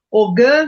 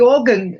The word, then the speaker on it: Ogham: também não tá errado ogã não tá errado mas a o a pronúncia mesmo que você tem na irlanda ou né até depois que eu entendi que ogan ogan né é uma como